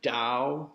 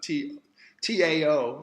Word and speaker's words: Tao: the followers of the Tao, the way, T-O-W or T-A-O, it's pronounced as if it's D-O-W, like the Dow Jones, but it's spelled T-A-O